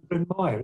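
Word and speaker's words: Brynmawr: I was going to say Brin Mawr, is that right?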